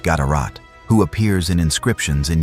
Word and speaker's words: GDRT: One notable example comes from King Gdrt, possibly pronounced Gadarat, who appears in inscriptions in Yemen, demonstrating Aksum's reach into the affairs of the Arabian Peninsula.